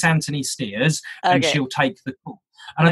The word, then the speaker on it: Stears: go oh yes sorry it's Antony steers that's st EA RS thank you okay I'm